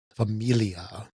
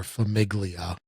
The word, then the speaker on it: Famiglia: freedom and freeze called Familia or Famiglia if you want to say it how it's spelled but it's uh a